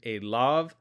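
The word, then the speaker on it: אֵלָיו: So this is going to be read Elav. The Yud is silent, so we're not going to pronounce that.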